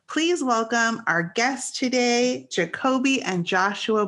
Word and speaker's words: Jacobie: showcase their craft please welcome our guest today jacoby and joshua bloom did i pronounce that correctly yes yes you did i'm